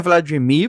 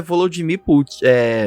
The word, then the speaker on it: Volodymyr: Só que os dois a única coisa que muda é a pronúncia do russo pro ucraniano, porque os russos chamam o Zelensky de Vladimir Zelensky e os ucranianos chamam o Putin de Volodymyr Putin. É o sotaquinho. É a única diferença da pronúncia das línguas, né?